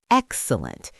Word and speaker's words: excellent: Right, if you call something excellent, the stress is on the first syllable, excellent.